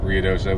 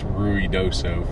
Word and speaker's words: Ruidoso: We have had an absolute blast in Ruidoso, which I know I'm saying it wrong. It's Ruidoso from the people who live here that still have told us.